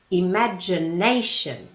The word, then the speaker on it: imagination: creativity creativity inspiration imagination could you hear the stress on the a Asian imagination achievement achievement what's the